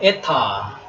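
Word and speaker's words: η: 제타는 한글의지 발음입니다 지음 그다음에 에타 에타 요거는 장모음입니다 장모에 그니까이 엡실론 그냥 a 한다면이 에타는 조금 길게 발음해야 되겠죠에 예 약간 긴 발음으로 그러니까 이게 4분음 표라고 한다면 우리가 음악에서 그죠 이렇게 여기 4분음 표지 않습니까 요거는 이제 2분음표 식으로 이렇게 길이만 나를 뿐이지 똑같이 발음은 에라고 하는 모음 발음을 한다 그다음에는 타라고 합니다 데타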